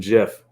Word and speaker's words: GIF: a gif in here i can't believe they made that the official pronunciation sorry i'm sorry i thank you with my jif languaging but it but that's what it is literally look it up same with niche i'm